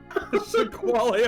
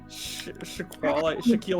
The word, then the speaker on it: Shaquille: With this being twice the size of Shakwale Onale, it's safe to say Shaquale O'Neal. Twice the size of what? Shaquille O'Neal.